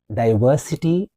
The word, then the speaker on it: diversity: Diversity, 4-syllable word. Diversity. Diversity, we will call it in British, whereas diversity, we will call it in American. Diversity, the stress is on ver.